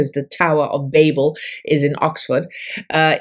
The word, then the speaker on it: Babel: As for the pronunciation some say Babble uh I say Babel because that's how the Tower of Babel the biblical Tower of Babel is referred to so but if it's